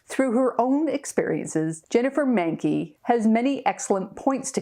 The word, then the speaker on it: Mahnke: Yeah, it's pronounced Mahnke. So Is that German? it is. Yes, yes. There's a huge rivalry in Boston between the Boston Red Sox and the New York Yankees, but it rhymes with Yankee, unfortunately.